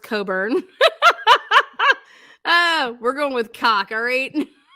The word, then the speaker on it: Cockburn: town when it's pronounced coburn. Ah, we're going with All right. Put that on a t-shirt. When it says cockburn, we say coburn.